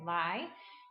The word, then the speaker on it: Lai: The pronunciation for her last name is Lai.